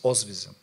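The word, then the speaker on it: Oświęcim: the concentration camp because the name of this city is ozvism okay so then because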